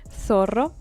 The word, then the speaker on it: zorro: Same thing with the Z. We say zorro, like it's an S.